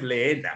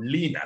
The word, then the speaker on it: Lina: Entonces, Lina no es Leena, sino Lina, se pronunciaría así, ¿no?